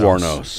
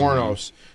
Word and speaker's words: Wuornos: You know Eileen Wuornos. That's how you pronounce Wuornos. it. Wuornos.